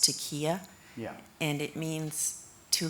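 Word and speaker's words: taqiyya: One of the words is, I think it's pronounced taqiya, Yeah.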